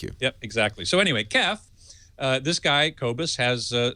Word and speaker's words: KEF: You pronounce that KEF? You do. Okay, that's good to know. KEF. I always said KEF.